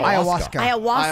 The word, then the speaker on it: Ayahuasca: Ayahuasca. Ayahuasca.